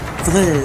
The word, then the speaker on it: Vril: So for an example, if you want to look at it a bit closely, like Vril, right? The V pronounced as F for Fehu, which means it's the fire which creates and destroys.